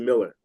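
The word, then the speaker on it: Millar: teammate teamups that Mark Malar and Grant Morrison were doing. Am I correct? I don't know. Probably. Probably. Did they bring you in? Miller. Say it again. Pronounces as a Miller.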